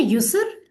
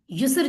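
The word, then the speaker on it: يسر: यूसुफ है सर। युसर। युसर बोलना यूसुफ। आसान।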